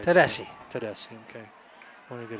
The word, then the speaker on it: Tedeschi: Tedeschi, okay.